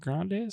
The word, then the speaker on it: Grande's: Grande's? Yep. And fun fact, I worked at Grandy's Pizzeria for a year.